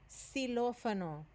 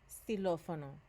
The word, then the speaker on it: xilófono: Xilófono. Notice here this letter O has an accent on it. It's not too important right now, but notice was xilófono. It puts a stress on that vowel, doesn't it?